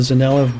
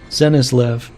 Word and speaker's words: Zenislev: The Zanelev body, or I'm probably saying it wrong again, but the Zenislev. Yeah, I always used to say Zanelev, but in Zenislev, that body is a